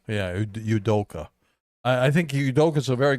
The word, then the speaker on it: Udoka: I can't even pronounce the guy's name. What's his Ime Udoka? Yeah, Udoka.